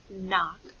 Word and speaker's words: knock: for some review so sometimes when you hear the hmm sound like in knock it will be spelled with a k n next when we hear